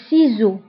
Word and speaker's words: ciseaux: لي سيزو داكوغ وبالنسبه هنا اس نطقناها بزاد لانه جات اونتر دو فوايل كيف كنقول لكم دائما اس الا كانت بين دو فوايل فكنقراوها بزاد سيزو لي سيزو لساق اون كول اون كول Une colle.